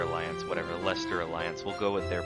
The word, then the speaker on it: Leicester: of the Leicester Alliance now I keep saying leister Alliance whatever Leicester alliance will go with their pronunciation for now at least until they forget